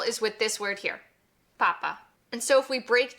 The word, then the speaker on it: papa: Since there's no accents on this word, the penultimate pa will be the one that we place the emphasis on, papa.